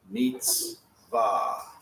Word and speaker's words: mitzvah: Now, that gives us the letters and vowels to spell mitzvah.